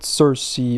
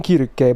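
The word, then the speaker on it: Circe: a while right all right let's talk about Cersei or Kira k as I call her and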